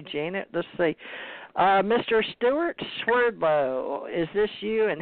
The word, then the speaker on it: Swerdlow: Russian name and but in United States it's pronounced Swerdlow but in Russia its